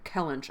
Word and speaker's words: Kellynch: Kellench. I'm gonna say Kellench.